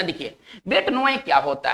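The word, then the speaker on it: bête noire: पढ़ेंगे बेट, बेट, ठीक है, नोए, इसका जो उच्चारण होगा बेट नोए, ठीक है ना। देखिए बेट नोए क्या होता है, ये वैसे व्यक्ति होते हैं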